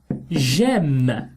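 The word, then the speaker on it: j'aime: love or i like i will say gem instead of m i will have to remove the er and place an apostrophe gem kind of liaison to make it sound nice gem so j apostrophe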